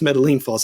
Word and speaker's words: Metaline Falls: It's pronounced Metaline Falls.